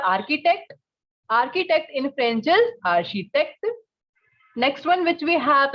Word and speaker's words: architecte: case of journalist, and the pronunciation is architecte. Repete, architecte.